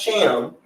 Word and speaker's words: Thiam: So my last name is pronounced Cham, but it's spelled Thiam.